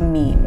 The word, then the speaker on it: meme: My meme comes from a suitable Greek root, but I want a monosyllable that sounds a bit like Gene. I hope my classicist friends will forgive me if I abbreviate my meme to meme.